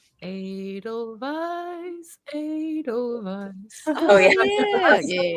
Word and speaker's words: Edelweiss: I say it like the song, you know, from The Sound of Music. Edelweiss, Edelweiss.